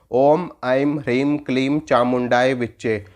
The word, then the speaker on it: ओम ऐं ह्रीं क्लीं चामुंडाय विच्चे: इस मंत्र को देखो और उच्चारण कैसे करोगे, उच्चारण देखो, मैं बताता हूँ। ओम ऐं ह्रीं क्लीं चामुंडाय विच्चे, ओम ऐं ह्रीं क्लीं चामुंडाय विच्चे, ओम ऐं ह्रीं क्लीं चामुंडाय विच्चे।